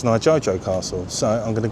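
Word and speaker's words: 二条: it's not Nijo Castle. It's actually pronounced Nijo Castle.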